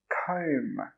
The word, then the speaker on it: comb: This word is pronounced comb.